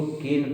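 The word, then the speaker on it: -ane: Word याद करो, ANE को केन पढ़ते हैं, हिंदी में ऐसे बोलते हैं केन। ENE को पढ़ते हैं कीन, और इसे पढ़ते हैं काइन, ऐसे प्रोनाउंसिएट करते हैं।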